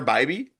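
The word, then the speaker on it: Bibee: Last name is pronounced like by B.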